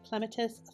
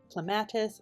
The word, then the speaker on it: clematis: This is the clematis flower. It's a vine. Some people pronounce it as Clematis. My mama said to say Clematis, rhymes with tomatoes.